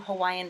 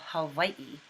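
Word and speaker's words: Hawaiʻi: about the pronunciation of hawaii and the w is either a or a soft sound and the eye has an okina or an apostrophe between the two eyes which is a glottal stop so it is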